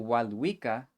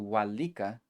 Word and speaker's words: walika: So walwika, or smoothened out to walika, means to bring something.